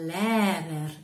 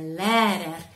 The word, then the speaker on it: Lehrer: Der Lehrer, der Lehrer. Le R finale muore un pochino, quindi dobbiamo lasciarlo un po' andare.